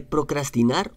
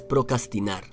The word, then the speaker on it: procrastinar: Se dice procrastinar o procrastinar. Métele las dos R's y todo quedará perfecto, no digas procrastinar.